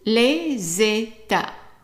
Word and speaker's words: les États: two words together, and this S here is going to be pronounced like a Z sound.